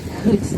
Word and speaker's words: Gruut: to do in the Middle Ages, is called Gruut. That's spelled G-R-U-U-T.